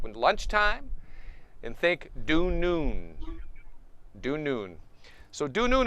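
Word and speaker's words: dunun: i would pronounce that du noon not dunnon like how it might look think of noon the word noon you know 12 p.m noon like when lunchtime and think due noon due noon so du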